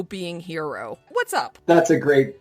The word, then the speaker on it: HXRO: but i'm with you we've had people calling it hexaroof like kangaroo hex row they don't even try to pronounce it a lot of people just say the letters hxro but it is pronounced